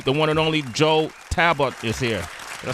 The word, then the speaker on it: Talbot: And making his directorial debut, the one and only Joe Talbot is here. Did I say it correctly, Joe? Talbot, yeah.